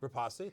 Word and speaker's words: Rapace: Rapace, thank you. I'm playing the Mike Roth role.